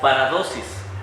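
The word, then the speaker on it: παράδοσις: En el texto griego, familia, utiliza una palabra que se pronuncia paradosis.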